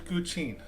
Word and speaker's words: guqin: And you're seeing what I'm doing right now, which is the design of an electric guqin. I'm not even sure that's how you pronounce it.